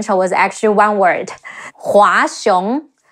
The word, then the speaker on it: Hua Xiong: Hua Xiong, He Wu A, Hua, Xi Yi Ong, Xiong, Hua Xiong, Li Jue, Le Yi